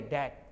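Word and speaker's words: debt: आगे देखिए, DVT डेप्ट नहीं बोलेंगे, डैट। DUBT डाउट बोलेंगे, इन्हें डावट। इस तरह से उच्चारण में बी को हमने साइलेंट कब किया? जब टी के पहले आया या एम के बाद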